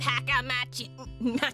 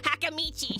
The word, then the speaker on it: Hakamichi: You can work with Haka Machi. Sorry, Hakamichi. She's the class representative. She just pops up in the background. Hakamichi, you said it wrong again, sir.